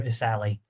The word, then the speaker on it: Essalhi: And I'm just like, "It's Amir Isali." Asali.